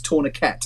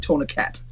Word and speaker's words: tourniquet: yeah just just like just like uh that french word that everyone gets wrong it's tourniquet all right tourniquet anyway sorry welcome no i